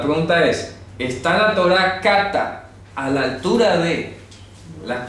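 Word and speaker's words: κατά: Kata. Kata. O sea, se escribe así.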